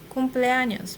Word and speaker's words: cumpleaños: It's not an N, it's an ñ.